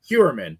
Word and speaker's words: Heuermann: And Tiffany, how do you pronounce his name? Because I always mess it up. Rex Heuermann. Heuermann, that's it.